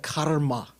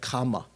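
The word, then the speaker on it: kamma: Like you don't have karma, you have kama, K-A-M-M-A, right?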